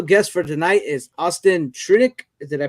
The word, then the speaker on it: Trunick: sleeping our special guest for tonight is austin tritic is that i pronounce it right yep you got it all